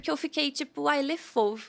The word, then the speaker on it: Fauve: eles de Le Fauve, que é a pronúncia certa em francês, né? É Fauve, mas aqui eu chamo Falve.